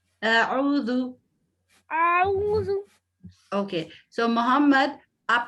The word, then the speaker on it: أعوذ: So ایسے consciously pronounce کریں تاکہ zal آپ کا بہت prominent ہو. أعوذ. اعوذ.